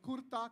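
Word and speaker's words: kurta: culture it is called Kura k r t a r is silent in Boston CA so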